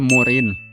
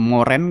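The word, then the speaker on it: Moreen: Selanjutnya itu adalah Leticia Morin. Ya gue awalnya agak bingung nyebutinnya, cara pronounce namanya itu seperti apa. Moren kah? Oh ternyata Morin ya, karena E-nya 2.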